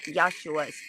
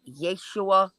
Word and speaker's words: Yeshua: Yeshua Yeshua this some there's a way to pronounce it it's not yosua because my son's name is Joshua it's like Yeshua something like that the way they they